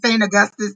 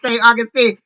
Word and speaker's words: St. Augustine: Saint I kept saying St. Augustus too. It's St. Augustine.